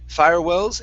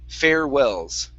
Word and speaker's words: farewells: Um, here instead of fire firewells, it's fair. Farewells. Farewells. Okay, one more time.